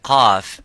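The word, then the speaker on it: قاف: So when we pronounce the qaf, we try to pronounce it audibly and as it is, qa, by opening slightly the lips vertically and making that sound and echoing by saying qa.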